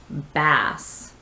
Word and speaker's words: bass: they're pronouncing it as bass all right there's a short a there and it's a noun